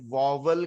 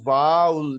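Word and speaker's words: vowel: Note, واؤل کا تلفظ ہمارے یہاں واول کیا جاتا ہے, جو ابھی میں نے بات کی, جو کہ غلط ہے. اس کا درست تلفظ واؤل, یہ میں نے اردو میں بھی لکھ دیا ہے.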